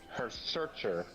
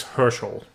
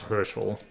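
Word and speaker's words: Herrscher: But yeah, I I you you can interpret it whatever way you want because you're a herarcher. Uh close. It's hersel but close. Oh, I butchered that so badly.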